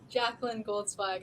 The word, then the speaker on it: Jacalyn Goldzweig: And Jacalyn Goldzweig, is that the correct pronunciation? Jacalyn, what's the correct pronunciation, Jacalyn? Jacalyn Goldzweig.